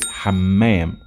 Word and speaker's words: حمام: say a toilet is حمام. I have to stress on the meme حمام. And for noun mint is نعناع نعناع with عين نعناع.